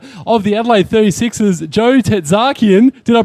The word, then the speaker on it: Tertzakian: And the general manager of the Adelaide 36ers, Joe Tetakian. Did I pronounce that right, Joe?